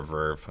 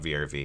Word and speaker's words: VRV: vrv do it because our Verve I guess they're called for not vrv it's spelled vrv anyway I have been